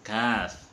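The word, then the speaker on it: ك: Di antaranya adalah pengucapan huruf Qaf harus dibedakan dengan huruf Kaf. Qaf itu dari tenggorokan, dari sini. Sedangkan Kaf itu dari atas sebelum masuk, atau kerongkongan yang paling dekat.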